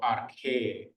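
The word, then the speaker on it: ἀρχή: That P, that's a Greek R, ro, it's called. Okay, so it's not apt. That's an A, an alpha, and then a ro, R.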